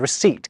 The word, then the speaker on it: receipt: It's through this process that plumber gets its silent B and receipt gets its silent P.